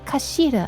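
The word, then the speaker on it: 頭: It's written as head in Japanese, but it's pronounced as a kashira, I believe.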